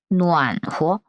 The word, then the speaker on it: 暖和: 暖和. 暖和. 자, 뉘안 아니야. 오 발음이죠.